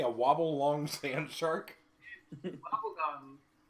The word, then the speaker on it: wobbegong: Wobbegong. Spell it.